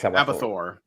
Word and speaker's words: Abathor: present that his great team put together called abathor is that how you pronounce it yeah it's abor AB yeah nice so uh yeah it looks